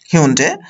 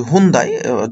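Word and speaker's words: Hyundai: এরপরে যেটা রয়েছে সেটা হচ্ছে হিউন্ডে, আমার বাংলাদেশে এটাকে অনেক সময় বলা হয় হুন্দাই, উচ্চারণটা একটু ডিফারেন্ট, হিউন্ডে।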